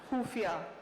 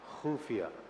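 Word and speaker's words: ख़ुफ़िया: कर रही होती है, तो कैसे ख बोला जाता है, कैसे बोला जाता है प्लीज? खुफिया। खुफिया, खत्म। क्या बात है, खत्म। खाली। आपने खुफिया बोला, मैं तो खत्म हो ही गया।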